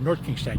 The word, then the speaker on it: North Kingstown: I always mix this up, NK or SK? North Kingston. North Kingstown. You got to say it right. North Kingstown.